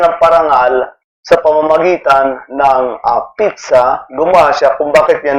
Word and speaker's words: pizza: Hindi po ah sinasabing pizza or tiza or pizza piz sa so ts parang ganun po yung pizza. Ah operado kasi ako kaya hindi ako makapagsya pero pizza.